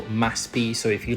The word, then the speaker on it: MASP: There is a famous art gallery on Avanita Powista called MASP or they pronounce it in Brazil Maspi.